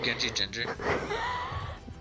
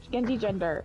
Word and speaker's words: genjigender: Rainbow, are you Genji Ginger? And I was like, whoa, I'm sorry, Genji Ginger? Wait, what? Yeah. You can't pronounce it. Genji Ginger? No. Genji Ginger? Genji Gender.